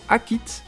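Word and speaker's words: Akhet: Mais d'après mes recherches, il s'agit du mot Akit, qui s'écrit Aket, et cette saison, elle s'étend de la mi-juillet à la mi-novembre.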